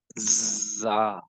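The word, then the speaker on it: ز: take your tongue here, this part, take your tongue here in between of the front and bottom teeth, and start pronouncing with me, za, right?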